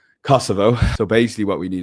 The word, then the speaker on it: Kosovo: el Albania, North Macedonia, Bosnia and Herzagabana and Kasovo and Kasovo there. Jesus that's a shocking pronunciation Kosovo.